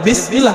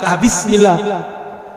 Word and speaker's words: Bismillah: Tetap bacanya Bismillah, bukan Bismillah. Terus apa lagi?